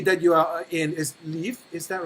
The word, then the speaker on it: Lviv: So the city that you are in is Lviv, is that right? Lviv. Lviv. Lviv. It's Lviv, kind of like the English word live, but slightly pronounced differently.